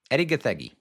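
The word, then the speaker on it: Edi Gathegi: Eddie GGI. Pretty sure that's how you pronounce it. I looked it up. He's a Kenyan American actor. His last name comes from the Kikuyu language.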